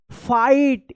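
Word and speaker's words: fight: Today we will not फाइट एफ आई जी एच टी यहां पे जी H silent रहेगा।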